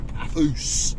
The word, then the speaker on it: Paphos: Technically now, as you may have noticed on the signpost, we've just entered Paphos. That's how the locals say it, but we'll call it Paphos.